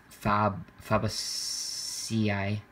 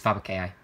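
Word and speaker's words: Fabaceae: the flowering plant family fab fabu ci sorry i'm literally in latin i should know this it's faba kai um if you want to say it correctly that is uh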